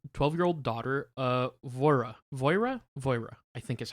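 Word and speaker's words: Voirrey: probably say like voir it's manx which is like the local people's language i think so it but voi voira i believe now this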